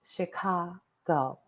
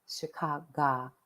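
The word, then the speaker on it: Shikahogh: just one minute but it is spelled the witch clan of s-h-i-k-a-h-o-g-h pronounce Chicago Chicago Woods ironic I know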